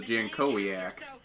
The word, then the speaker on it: Jankowiak: I think it's Jankowiak. Back in 1989. Jankowiak. I don't know. I'm asking somebody. Okay. Well, that's how she pronounced it, was Jankowiak.